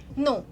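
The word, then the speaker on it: know: जैसे कि मैं आपको एग्जांपल अगर दूं तो नो इस वर्ड को हम मॉडर्न इंग्लिश में नो प्रोनाउंस करते हैं। बट आपको पता है कि हम इसे ओल्ड इंग्लिश में कैसे प्रोनाउंस करते थे? हम इसे ओल्ड इंग्लिश में नो प्रोनाउंस करते थे। तो ये जो के है इसको हम साइलेंट नहीं मानते थे। इसको इसको हम इसका प्रोनाउंसिएशन हम करते थे।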